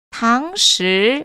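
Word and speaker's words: 堂食: 자, 포장은요, 외부로 들고 가다라고 해서 外带, 外带, 外带, 外带이라고 읽어주시면 되고요. 자, 너무 재밌는 표현이 하나 나옵니다. 여러분, 식당에서, 매장에서 먹는다라고 했을 때 당시 건설함 주의하세요.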